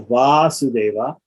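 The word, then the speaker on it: Vāsudeva: So the idea here is that Vasudeva, with a short a, has a particular suffix, or the a in the first syllable gets lengthened, and that indicates the sense of an offspring of that person, right?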